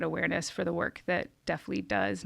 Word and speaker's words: DeafLEAD: And I want to make sure that I'm saying the name right, because I pronounced it wrong. It's DeafLEAD.